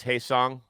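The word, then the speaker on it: Hyeseong: And by the way, it is Hae-song Cuz I I butchered it. Yeah, I butchered it earlier.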